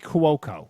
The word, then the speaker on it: Cuoco: Kaylee Cuoco Kaylee Cuoco.